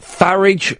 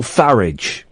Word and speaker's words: Farage: um but it it farage rhymes with garage yeah but I say garage and some people say garage no it but no I've I've heard him say it farage rhymes with garage so it's Nigel farage